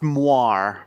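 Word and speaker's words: moiré: It is pronounced moire.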